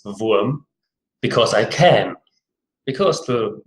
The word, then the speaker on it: Wurm: I also prefer to pronounce my playbook I chose in the German manner, which is Wurm, because I can.